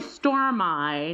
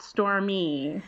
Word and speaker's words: Stormi: but I just always want to pronounce it or store my not store me well I know that